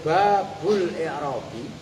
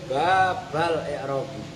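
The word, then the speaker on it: باب الإعراب: Babul i'rabi hadza, nah itu cara membacanya. Boleh babul i'rabi, boleh babal i'rabi.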